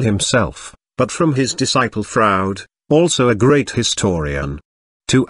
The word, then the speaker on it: Froude: not from Carlisle himself but from his disciple Froude also a great historian to add to the fun crowd is pronounced just the way Keeley Reeves says Freud